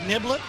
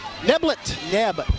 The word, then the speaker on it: Neblet: Lunenburg, Virginia, actually, here at, if I can pronounce this right, Niblet? Neblet. Neblet. Like Mr. Neblet.